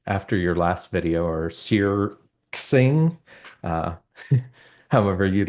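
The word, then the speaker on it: SearXNG: to tell me that the x is actually a a Greek character and pronounced Chi so searching makes a ton of sense now yeah that makes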